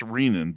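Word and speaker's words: renin: and it is pronounced rein by the way as in renal artery renal cortex.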